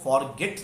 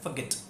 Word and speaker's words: forget: इसको फॉरगेट नहीं बोलना है, इसको बोला जाता है फॉरगेट. फॉरगेट, फॉरगेट.